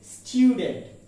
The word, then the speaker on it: student: But the fact is the pronunciation is student. Student, not student. Not student. Then the word is iron.